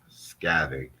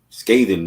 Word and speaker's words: scathing: that up hold on scatter scathing you mean you think you saying it wrong you mean scathing oh that's how it's